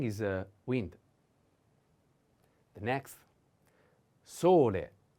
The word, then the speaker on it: sole: a wind the next sole sole the accent is on o solei is a masculine